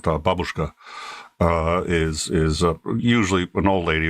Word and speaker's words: babushka: Yeah, so babushka is Jesus, it's actually pronounced babushka.